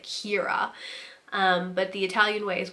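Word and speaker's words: Ciara: thought it was but that's like a Irish name and it has a completely different meaning in a completely different pronunciation which is like Keira but the Italian way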